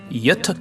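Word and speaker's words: Göta: this fascinating Canal system the correct pronunciation is Yuta Canal the Yuta Canal steamship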